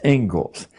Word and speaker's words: Inglis: Looks like Inglis, but it's pronounced Ingalls.